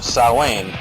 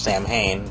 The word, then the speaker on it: Samhain: By the mid-80s, Danzig, after leaving the Misfits, formed Samhain, which a lot of people also pronounce Sam Hain, but it's actually pronounced Samhain, which also influenced the horrorpunk movement, but more on that in a few.